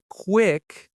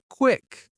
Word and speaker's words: quick: The word quick, it's not quick, but quick with that short I shadow it.